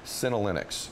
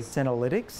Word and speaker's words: senolytics: I pronounce it right calenic am I saying that correctly senolytics yes yeah what is it